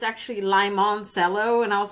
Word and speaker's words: Limoncello: But when you look it up, it's actually Limoncello. And I was like, why the heck would they pronounce it like that?